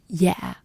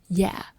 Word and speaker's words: Dạ: Always start your sentence with the word "Dạ." Dạ. So, it's pronounced like "Yeah" with a very soft downward tone. Dạ.